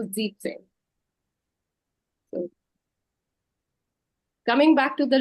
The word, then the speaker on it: Siebzehn: Again, not Sieben, but Sieben, because well, it's very long. All these previous numbers were kind of 2 syllables, making our life so keeping it simple. But Siebenzehn, it's too many syllables, no? Getting longer. So Siebzehn.